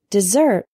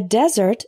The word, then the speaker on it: desert: Practice the pronunciation. Deliberate. Deliberate. Next, we have a very common one, desert and dessert. A desert is a very dry area of land.